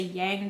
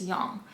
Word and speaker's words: Yang: I'm pretty sure and not Yang a lot of people say Yang but I'm pretty positive it's young so if you keep